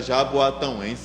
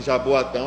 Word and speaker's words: Jaboatão: Alegre eh União Espírita Jaboatão até um tempo desse eh mesmo Trabalhador de lá eu pronunciava errado Jaboatão Mas quem nasce em Jaboatão é Jaboatão então é